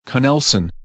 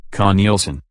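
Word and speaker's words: Knelson: A lawyer named Jerry with a J, Connelson, with a K, that's spelled K-N-E-L-S-O-N. I see the K is not silent.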